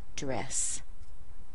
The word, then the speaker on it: address: So as a noun, we're going to stress the first syllable. And you see we have two syllables here. Address. Address. There are two possible tricky things about this sound. And the first one is that sound in the beginning. This is the same as in apple and cat.